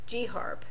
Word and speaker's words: GHARP: So here we are Guyana the the initiatives they have there for the GY HIV AIDS reduction prevention program which was called GHARP not GARP but Gharp.